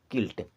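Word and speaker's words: quilt: यू आई एल टी किल्ट या यू के बाद आई आता है तो यू साइलेंट हो जाता है इसे पढ़ेंगे किल्ट एंड किल्ट मींस होता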